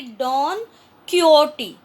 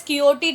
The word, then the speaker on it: Don Quixote: Since it's a Spanish novel, the pronunciation in Spanish can be Don Quixote. So if it is called as Quixote, don't get confused, it is Spanish pronunciation.